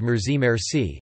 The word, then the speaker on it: مرسی: using the French word merci merci, stressed, however, on the first syllable, the hybrid Persian-Arabic phrase